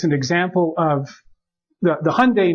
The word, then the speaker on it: Hyundai: this you know um Hyundai and the official pronunciation supposed to rhyme with Sunday so Hyundai um is is making